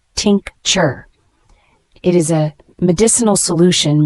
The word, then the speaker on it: tincture: r e is a noun pronounced Tink chur it is a medicinal